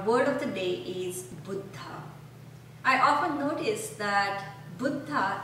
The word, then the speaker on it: Buddha: pronunciation and our word of the day is futa I often noticed that buta is not pronounced correctly and it's often said like Buddha or Buddha and that pronunciation in Indian language